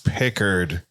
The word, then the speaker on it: Picard: And he went, it's Pickard.